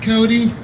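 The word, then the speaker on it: Côté: My last name is C-O-T-E, but it's pronounced Cody.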